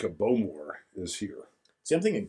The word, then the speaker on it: Bowmore: You're supposed to emphasize the more. Bowmore. More on the more.